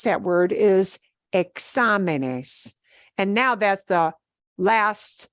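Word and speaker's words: exámenes: we pronounce that word once I make that particular word plural changes the stress pattern I have to write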